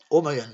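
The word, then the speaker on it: O'Magahn: oui, O apostrophe, voilà, plus loin, M-A-G-A-H-N, oui, O'Magan, voilà, O'Magan, voilà, comme ça, O'Magan, O'Magan, vous voyez, O'Magan, O'Magan, O'Magan, ça s'écrit comme ça.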